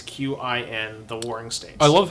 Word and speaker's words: Qin: So just in case you're googling this, it's not CHIN, it is QIN.